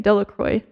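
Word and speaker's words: Delacroix: Bobby and Harry Jones and Dicky Deloqua, the villagers pronounced his name Delroy, eventually made a great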